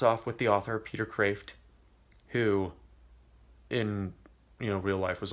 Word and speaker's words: Kreeft: It's spelled Kreeft, so it looks like Kreeft, but I think it's pronounced Kreeft.